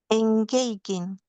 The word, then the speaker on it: engaging: That one engaging. Ah, almost. Uh, you've got the N bit right. You got the bit this first is right. First little bit right, but the G A is not there.